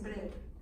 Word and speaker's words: Breuer: Que es Breuer, para pronunciarlo correctamente.